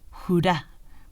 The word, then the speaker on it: hurra: Bueno, en realidad dijo hurra, porque los suecos ponen el acento en la A, pero quiere decir lo mismo.